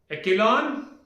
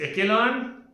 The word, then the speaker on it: echelon: Echelon? Is this echelon? No. This is called echelon. This is called as echelon.